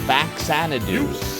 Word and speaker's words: Faxanadu: the dragon sler from fadoo that's right it's pronounced faxanadu notado but the two and a half years